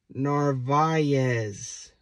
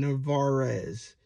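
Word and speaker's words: Narváez: while next one is Narvaez Narvaez I understand some people like to call him navares but it's not right this one is Escobar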